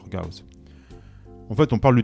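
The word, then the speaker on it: Gauss: Alors souvent on parle de théorème de Gos. Alors déjà Gos bon il s'appelait Frederich Gaus. Moi, j'aime bien euh prononcer les noms euh bah les noms comme euh la prononciation d'origine. Alors, tu peux la plus G, c'est si tu préfères mais bon, moi je préfère dire Gaos.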